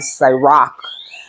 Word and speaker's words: Sirach: Okay, I was calling it the book of Sirach, but I was pronouncing it wrong. Okay, it is the book of Sirach, which is actually a